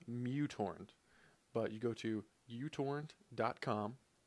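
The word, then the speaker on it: µTorrent: torrent client will do I choose UT torrent I believe it's actually pronounced mutorent but you go to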